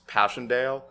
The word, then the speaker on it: Passchendaele: But also, when you talk about the unseasonable rain, that makes me think of I can't remember how it's pronounced. Right? It's Passchendaele.